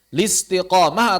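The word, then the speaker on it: الاستقامة: Al-istiqamah, tidak. Listiqamah atau al-istiqamah. Al-infitar, bukan al-infitar atau linfitar.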